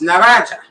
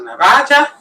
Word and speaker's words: na razie: So how do you say that? It's na razie. So na razie, see you later.